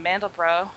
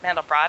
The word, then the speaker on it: Mandelbrot: And what's super fascinating is Benoit Mandelbrot, or Mandelbrot, I've heard both pronunciations, the mathematician who first discovered fractals.